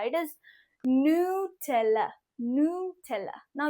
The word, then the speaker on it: Nutella: नट एला this is something like a nick name for your best friend no this is नॉट नट एला इट इज़ नला नला नाउ ये अब कितना इंपॉर्टेंट तो है